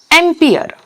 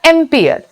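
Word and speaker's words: ampere: okay तार जो unit that is called एंपियर एंपियर pronounce करबा एंपियर and symbol capital A capital A okay next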